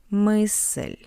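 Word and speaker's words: мысль: As you can see after M we have that's why m is hard m and after l we have the soft sign. That's why L is soft. Mel, it means idea.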